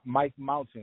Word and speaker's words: Mic Mountain: Mound say it again Mike m Mike Mountain like a mountain oh Mountain okay see